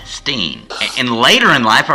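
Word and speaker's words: Berenstain: how was his pronounced she said it was German therefore it's you you start you do the e you know it's Bernstein Steen and later in life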